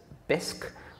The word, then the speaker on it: Bisq: fact it already exists one example is bisque which is spelt B is Q and bisque is a decentralized exchange